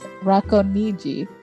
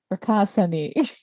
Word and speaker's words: Racconigi: So Umberto II was born in, the correct way to say this is Racconigi, but in the English way, American way, it's Racasani.